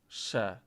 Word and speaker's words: się: Yeah, I've been told a million times that even if E with the nasal E at the end doesn't have to be pronounced oh.